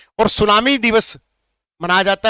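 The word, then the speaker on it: tsunami: बताओ, जापानी भाषा में सु मतलब TSU प्लस नामी, इसको बोलते हैं सुनामी। टी इसमें साइलेंट है।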